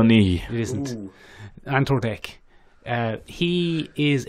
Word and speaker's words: Nighy: bill me he no that's not how he pronounced it is it's bill knee isn't until dick he